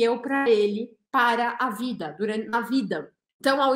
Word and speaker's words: vie: Para que caiba na música, ela pronuncia esse E da palavra vi. Vi significa vida. Normalmente a gente não fala o E, fala vi. Mas na música ela precisa de uma sílaba a mais.